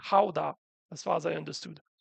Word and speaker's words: Gouda: So in France, we were talking about Gouda, which in Dutch is actually pronounced more like Gouda, as far as I understood.